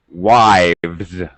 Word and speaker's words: wives: is voiced so now my pronunciation of the S becomes a z sound why Z okay we